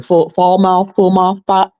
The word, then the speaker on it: Falmouth: Falmouth. It's spelled Fallmouth.